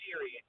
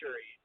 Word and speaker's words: Shuri: I was gonna say, did you just pronounce Shuri as Siri? Shiri is what I. You said Shiri. Shiri. But it's Shuri. Yeah. It's Shuri with a U.